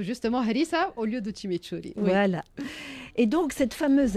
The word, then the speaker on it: chimichurri: On en met la gentille, il y a la sauce chimichurri, je prononce pas.